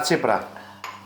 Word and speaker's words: tsipouro: We'll drink tsip'ro (tsipouro) Well done!